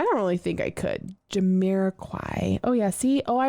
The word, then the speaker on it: Jamiroquai: Jamiroquai.